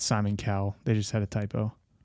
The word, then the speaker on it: Cowell: Mandela maybe he said America's Got Talent Simon Caldwell I thought it was the same it was probably a typo actually or maybe that's just how you say it I've never read it before no it's Simon Cowell they just had a typo Hey Jake good